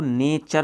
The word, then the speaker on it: nature: यहाँ पर देखिए अब टी से चे बनेगा कैसे, देखो NATURE, अपन टी का रूल पढ़ रहे हैं तो देखो टी के बाद में यू आया तो अपन इसको नेचर बोलते हैं, यानी कि चे बना है।